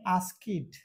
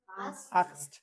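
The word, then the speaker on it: asked: Past participle করতে হয়, তাহলে এই ইডি এর উচ্চারণ হবে হচ্ছে ট এর মতো। আমরা অনেকজন বলে আস্কিড, হবে কি? আক্সড।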